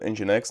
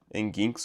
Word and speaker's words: Nginx: Sim, é assim que se pronuncia. Enginex, né? Não é enginx ou sei lá.